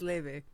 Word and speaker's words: Laufey: Laufey Sorry, Laufey. It is Laufey.